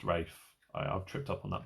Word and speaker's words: Ralph: Lopez and Rafe finds it's spelt Ralph but it's pronounced Rafe I've tripped up on